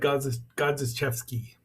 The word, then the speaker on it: Godziszewski: And our final book here is the biography of Ishiro Honda, written by Steve Rifle and Ed Godziszewski. Yes, I think that's how you say it.